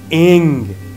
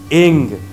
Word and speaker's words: ऐं: माता सरस्वती के मंत्र का बीज मंत्र है एंग, ए के ऊपर बिंदु एंग।